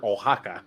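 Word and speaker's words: Oaxaca: is the reason why I know how to pronounce the word ohaka like because I heard it on that show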